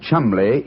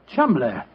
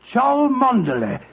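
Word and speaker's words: Cholmondeley: Being an American, he had no reason to know that the name Chumley is in no way pronounced the way it is spelled. Oh, Joe, I never thought of that. Chumley.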